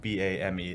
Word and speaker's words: Boehme: But it's pronounced Bame.